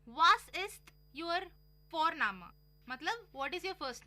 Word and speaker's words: Vorname: और हम यहाँ पे फोरनामा प्रोनाउंस करते हैं बट लिखते हैं उसको VORNAME। ओके, तो वो हम इंग्लिश के अनुसार प्रोनाउंस करेंगे तो बनेगा वॉरनेम, बट नो, इट्स फॉरनामा।